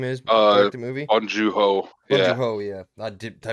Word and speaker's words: Bong Joon-ho: Jung Kong Hu or whatever his name is, directed movie. Bong Joon-ho. Bong Yeah. Joon-ho, yeah. I butchered all that, but I knew what it was.